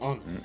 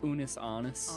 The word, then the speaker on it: Unus Annus: Unus Annus. And did I pronounce that correctly? No, it's okay. it pronounced? Unus Annus.